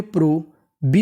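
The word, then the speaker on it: probe: पी आर ओ, इसे पढ़ेंगे प्रो, बी ई बा, क्योंकि ई का उच्चारण नहीं करना।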